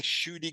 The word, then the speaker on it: Ncuti: You know how everyone's been saying Ncuti Gatwa? Yeah, you corrected it. To that's your story. Ncuti. There's an N and then a pause and then Ncuti.